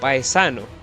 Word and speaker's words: Paesano: 7) The game's soundtrack, besides being masterful, is composed by John Paesano, yes, that's how it's said, don't judge me,